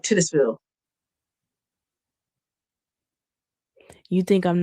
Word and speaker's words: Titusville: You think I'm not going to put the emphasis on the Titus? I don't think you're supposed to. I don't think you're supposed to. Because it's spelled Oh, Titus like like Titus. But they say Titus.